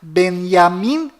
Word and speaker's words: Benjamin: bom Voltando ao assunto fora de Israel o nome deste primeiro ministro é pronunciado Benjamin nanaho mas dentro de Israel o nome dele é pronunciado benyamin netania confira fora dentro fora